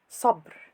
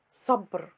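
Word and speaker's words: صبر: The word Sabr. means patience. It is pronounced sabr, not sabr.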